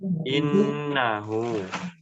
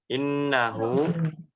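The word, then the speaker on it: إِنَّهُ: Yang terakhir di ayat yang ketiga pada kata innahu. Innahu nun tasydidnya dibaca dengan dengung yang lama. Ya. Tahan dulu. Jangan terburu-buru.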